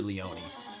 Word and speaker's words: Leone: Leone by the way is it Leon or Leone I I I figured it was Italian pronounced Leone I'm just going to say Leon to be on the safe side so Damian Leon is